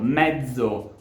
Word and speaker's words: mezzo: If words such as "mazzo", "pezzo", "azione", or even own name, "Lorenzo", need to be pronounced with the voiceless variant, so /ts/, there are other words such as, for example, "mezzo", or "bazzecole", that have to be pronounced with their voiced variant so /dz/.